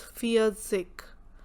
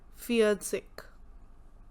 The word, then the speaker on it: Vierzig: 40, which is Vierzig. 4 is fear and T is zig, ty. That becomes fear as 4, zig as ty, Vierzig.